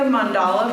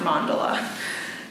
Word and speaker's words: mandala: Some people say the mandala, but Wikipedia told me that it's pronounced mandala.